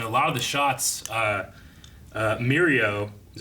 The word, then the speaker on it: Mirio: I thought it was interesting that in a lot of the shots, Mirio, is that how you say his name?